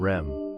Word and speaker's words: REM: ADM and REM, pronounced Adam and Rem.